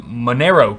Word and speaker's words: Monero: CPU power into mining Monero coins, which is a cryptocurrency I'm not too familiar with. Monero coins. I'm not exactly sure where that scales in terms of the value currently. Rhymes with dinero.